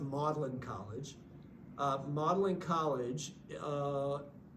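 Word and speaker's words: Magdalen: different faculty um he he was at it's pronounced modelin College uh modeling College uh is on the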